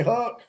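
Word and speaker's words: Huk: It's pronounced Huck.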